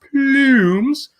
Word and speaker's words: Plumes: He's currently running a contest, I believe, an art contest to win an Earthquaker Plumes, because I believe that's how it's pronounced, Plumes.